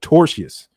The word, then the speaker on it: tortious: She said it's called tortious. Thank you for that correction in pronouncing it.